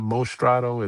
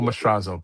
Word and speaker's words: Mastrazo: It's not Mostrad. It's ma like m a um Marco Mstrazo.